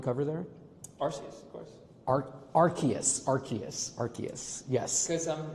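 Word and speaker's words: Arceus: Cuz I'm I'm reading the cards. That's how I said it in my head. You know, it's you know, completely valid because I I can't pronounce any Pokemon's name either. Um but I was watching the anime and that's how they said it in the anime.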